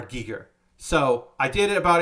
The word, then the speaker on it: Giger: many times he would he would correct people and be like it's it's HR Giger so I did it